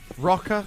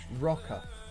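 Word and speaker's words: Roka: It's spelled R-O-K-A. Rocker. There's one in Mayfair, Canary Wharf, Charlotte Street.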